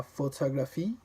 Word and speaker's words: photographie: In French, every syllable is of equal importance in volume and stress, hence the absence of stress syllables. That's something I really had to learn. For example, in the English word photography, you say the second syllable with more force. Photography. But in the French word la photographie, photography, you don't stress any particular syllable.